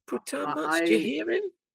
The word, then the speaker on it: putain: How long did you took to learn how to pronunciate Putan correctly? Putain.